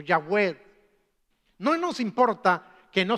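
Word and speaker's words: Yahweh: pronunciarlo hoy en día sabemos que más o menos la pronunciación de ese nombre al unirlo con vocales por el nombre adonay que también aparece en la Biblia relacionado con Dios Entonces más o menos ese nombre tenía que haberse pronunciado como yahw o yahw no nos importa que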